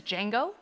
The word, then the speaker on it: Django: The D is silent, says Jamie Foxx, as the title character of this 2012 film. Crystal. What is Django?